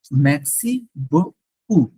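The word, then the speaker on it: merci beaucoup: ইউ, ম্যাক্সি, thank you, ম্যাক্সি বকু, নট বকু, বকু বলা যাবে না, ম্যাক্সি বকু, বকু মিনস হিউজ, অনেক, বকু, বকু, পি উচ্চারণ হবে না। হ্যাঁ পিটা নাই, পিটা বলার সময় না, লেখার সময় আছে।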